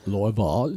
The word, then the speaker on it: Louisville: You have to pretend you've got like a mouthful of marbles. That's what I was told. Louisville. No. Louisville.